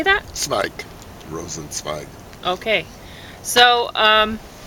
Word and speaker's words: Rosenzweig: Rosenzweig.